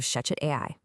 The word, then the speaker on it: ShechetAI: Welcome to From the Desk of ShechetAI. That's spelled ShechetAI. And yes, I know what you're thinking, it's pronounced Shechet.